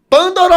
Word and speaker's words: Pândora: Mas minha mãe escolheu um acento circunflexo no primeiro A, então a pronúncia, de acordo com o cartório, é Pandora.